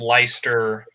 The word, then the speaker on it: Leicester: valid documentation for of leister with a spelling Leicester less sorry yes alright yes we all we've all done it those cases where all of a sudden English turns into French and you don't pronounce the way it's spelled yeah well yeah that's